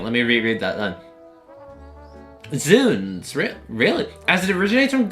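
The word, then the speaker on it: Zounds: The sounds is pronounced with the same kind of oo as in soon. Okay, hang on. Let me reread that then. Zuns.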